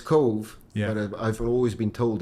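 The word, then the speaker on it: Cobh: Well, it's Cove, but I've always been told it was Cove. I never had to pronounce it any other way.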